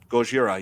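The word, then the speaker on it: ゴジラ: And nobody says Godzilla. Gojira. Yeah, I'm pretty sure they do. I mean, it's Japan. That's how they pronounce it.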